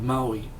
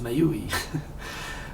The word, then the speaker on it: Maui: New Zealand except for two years how to pronounce Maui I was like oh it's May Yui it was terrible so yes I live my